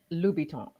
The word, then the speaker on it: Louboutin: I love keeping up with And pronounce fashion it again. and the stars. So I know how to say it. Louboutin.